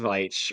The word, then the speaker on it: Veitch: no, I'm looking at the issue, and it is Tom Veitch writing, so it's not. Okay. Or Um, yeah, Veitch, yeah. Veitch, Tom Veitch, I've always said Veach if it's spelled the same as Rick Veach.